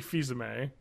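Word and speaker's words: Fils-Aimé: an interview Reggie uh how do you pronounce it filami the French way ah yes Reggie fizame he talked about the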